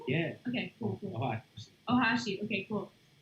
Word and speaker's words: Ohashi: i was like seriously and then uh owashi uh is that how you pronounce it yeah okay ohashi okay cool said okay that was freaking awesome